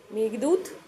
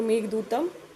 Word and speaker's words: मेघदूतम: मेघदूत या फिर मेघदूतम, अगर इसको सही से प्रोनाउंस किया जाए तो मेघदूतम, ठीक है।